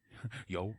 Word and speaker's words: Yeoh: Yo.